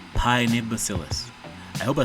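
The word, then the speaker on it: Paenibacillus: the official name for the bacteria is called pione bacillus I hope I spell this right pione bacillus I mean I hope I pronounce this right pie nibosillus larvae it's p-a-e and is a Nancy i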